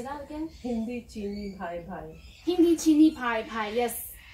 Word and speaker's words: Hindi Cheeni Bhai Bhai: Hindi Cheeni Bhai Bhai.